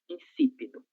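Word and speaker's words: insípido: A letra S, ela tá após a consoante N, né? Em razão disso, ela deve ser pronunciada conso de S. Incípido.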